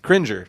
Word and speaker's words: Cringer: meant to check this I don't know if it's cringer or cranger the it's he-man's tiger big oh cringer cringer that's how you say it so uh Lionel